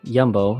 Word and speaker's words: Jumbo: it's spelled jumbo but here they pronounce it yumbo because the dutch j is a y but anyway regardless of